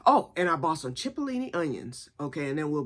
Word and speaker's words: cipollini: So pull up cipollini onion, spelled Cipollini. It's spelled chip, but it's cipollini.